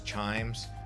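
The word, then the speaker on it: Chijmes: Also a very famous colonial area known as Chimes. It's got a J in the middle, so take note of that when you're trying to pronounce it.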